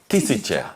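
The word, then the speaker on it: тысяча: Tisicha.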